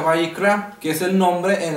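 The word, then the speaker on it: ויקרא: Israel Dale ciertas instrucciones levítico en original se pronuncia bicra y significa y llamó al leer levítico capítulo 1 verso 1 Vamos a ver que dice y llamó Dios a Moisés y le dijo entonces y llamó se pronuncia byra que es el nombre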